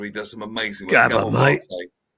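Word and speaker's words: Maté: Mate. No, not mate. Mate, you commoner. Mate. It's got an accent. I couldn't put the accent on there. It's got an acute accent.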